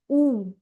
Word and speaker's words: U: English you is pronounced as ऊ in German.